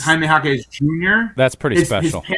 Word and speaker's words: Jaime Jaquez Jr.: And you get to call him Triple J, and one of the J's is silent, or two of the J's. Yeah, Because it's Jaime Jaquez Jr.